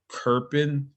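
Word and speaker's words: Köppen: and so this is the uh kerpin so that's how that's pronounced kirpan as a german climatologist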